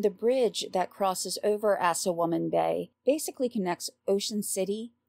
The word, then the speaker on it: Assawoman: we're looking at the assawoman bay and yes that's spelled like it sounds and I'll leave a